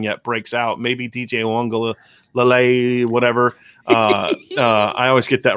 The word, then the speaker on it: Uiagalelei: Yeah, it's Uiagalelei.